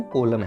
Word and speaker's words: column: Spelling है इसके COLUMN, बोलते इसको हम कॉलम है।